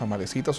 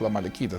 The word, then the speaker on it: amalecitas: Por el contrario, era parte de un pueblo llamado los amalecitas o los amalequitas, depende cómo se quiera pronunciar la C, como una K o como una C.